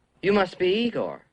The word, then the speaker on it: Igor: say you must be Igor now it's pronounced I go but they told me it was Igor well they were wrong name weren't they and